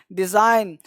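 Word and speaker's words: design: ये देखिए डिजाइन, डिजाइन, ये यहाँ पे ज, डिजाइन, ये जी नहीं पढ़ रहे हैं, एस पढ़ रहे हैं, डिजाइन।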